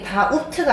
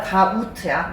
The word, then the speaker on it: doubt: 이게 다 우트가 아니라요. 다 우트야. 뭐 참고로이 B는 발음이 없어요.